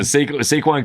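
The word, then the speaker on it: Saquon: his name Barkley yes I always want to call him dayquon I don't know why squ man I hate the Eagles and squ listen saquin could have freaking he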